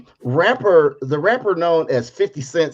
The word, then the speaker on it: 50 Cent: 50 cent said and notice you don't his name is not pronounced 50 cents his name is 50 cent so he says said